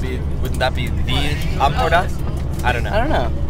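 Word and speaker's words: Empordà: It's pronounced Lomporda.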